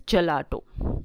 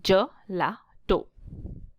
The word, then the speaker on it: gelato: It is an Italian style ice cream and it is pronounced as gelato. Okay, gelato.